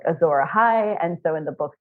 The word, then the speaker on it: Azor Ahai: Yeah, Azor Ahai.